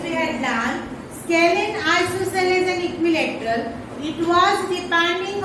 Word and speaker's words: isosceles: Then if two sides are equal, it is called isosceles. So this and this. are isosceles. What is the pronunciation?